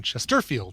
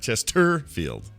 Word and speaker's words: Chesterfield: I'm so glad it's not, the middle syllable is not the accented one. Chesterfield. Yeah, Chesterfield.